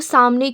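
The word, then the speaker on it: ث: ता ता ता और देखिए ता को भी हम बिल्कुल बारीक पढ़ना लाइटली पढ़ना ता देखिए ता के बाद आता है स सा का क्या मखरज है जबान की नोक को सामने के दो दांतों के किनारे में लगाने से सा अदा होता है।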